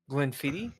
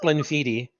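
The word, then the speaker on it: Glenfiddich: Glenn fittit 15 years gleniti yeah no it's not gleni I I learned something today as well it's pronounced gleniti yeah all right well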